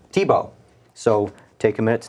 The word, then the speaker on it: Thibault: guest is uh Mr James T bolt that's how you say it right Tebow Tebow so take a minute